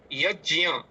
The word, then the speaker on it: यज्ञ: लौकिक भाषा में इसे हम यज्ञ का उच्चारण करते हैं। प्राय उत्तर भारत में इसी तरीके से ज्ञ का ही उच्चारण अभी तक हो रहा है। तो ज जोड़ य ज्ञे ज्ञ भी लोग बोल रहे हैं। तो आप इसे यज्य ऐसा भी बोल सकते हैं।